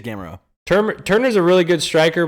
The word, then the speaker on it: Gamrot: It might be pronounced Gamero, so don't check me on that one. But yeah, we got I think it is Gamero.